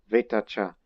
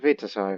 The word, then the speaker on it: Vitacha: Vitacha. It's not Vitasa. I figured the pronunciation. It's Vitasa. Vitacha. There you go.